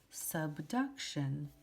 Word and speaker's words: subduction: so here it says the mariana trench was formed by the geological process of sub remember that is a lowercase u sound duck shun subduction and here we have